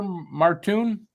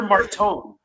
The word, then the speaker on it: Martone: How do you say it? Cam Porter Marton. Porter Marton. Yeah. Yeah. Just I love hearing that. I thought it was Porter Martone. There's no U. Marton. Marton.